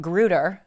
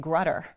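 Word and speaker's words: Grutter: Gratz versus Bollinger and you just talked about gruder I I always pronounced it grudder so see I'm learning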